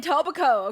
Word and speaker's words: Etobicoke: Dude was in Etobicoke, okay?